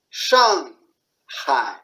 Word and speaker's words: 上海: If you see Shanghai, Chinese, English will say Shanghai. They are joined together, but no. Shanghai, right? One by one.